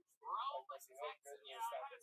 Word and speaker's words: Rhome: I live in Rome, Texas. My favorite barbecue joint is 407 Barbecue. Wow, 407. Yeah. That's also what your scale says. Exactly. Robert says, Rome, Texas.